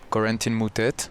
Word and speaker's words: Corentin Moutet: victory thank you well there is uh two way of pronouncing there's the American way and French way so usually I introduce myself to quarantine mutet that's how I say so people can easily pronounce it and uh the real way French one is a but it's very tough for international people I think I can